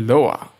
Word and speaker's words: Lua: Lua, pronounced Loa, or it's actually Loa, means moon in Portuguese.